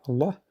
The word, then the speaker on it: Allah: Il y en a une exception, donc la seule exception dans le Coran, c'est dans le mot Allah. Ism al-Jalala, Allah, on le dit là. Donc Allahu, Allahumma. Et voilà, donc si on commence Allahu alladhi khalaq. Mais on ne dit pas Allahu alladhi khalaq. Et cette exception, elle a une exception, en fait, quand Allah précédé d'un i.